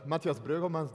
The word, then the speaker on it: Matthias Breugelmans: My name is Matthias Breugelmans, that's how you pronounce it correctly.